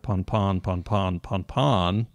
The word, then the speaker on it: pan-pan: Listeners are probably now familiar with its pronunciation as the common pan, but we should also be aware of the other common pronunciation as pawn, I'm guessing. Yeah. Pon-pon, in case the latter ever comes through the speaker.